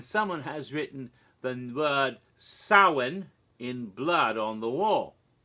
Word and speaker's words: Samhain: the word the name Sam hain it's not pronounced Samhain people always say that but in Gaelic gets pronounced saawan the M is sort of silent saawan so that was the